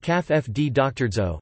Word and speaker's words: Caffè d'orzo: Café d'Orzo, pronounced caf-f-d-doctorzo, Italian for coffee of barley, often shortened to simply orzo, is a type of hot drink, originating in Italy.